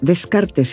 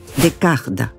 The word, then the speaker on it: Descartes: In many languages his name is pronounced Descartes, but in French his name is pronounced. "Decart".